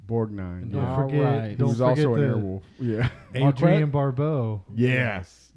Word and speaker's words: Borgnine: ernest how do you say that last name borgnine borgnine don't forget he's also yes in fact that's